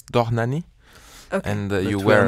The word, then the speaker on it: Dohnányi: can you start with how to say his name of course that's danani and you wear not